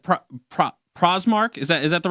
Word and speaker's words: Prazmark: We're speaking with, and Rob, am I saying you're like Prazmark? Is that the right way to say your name? I apologize. I want to say that right. Yeah, Prazmark. Prazmark.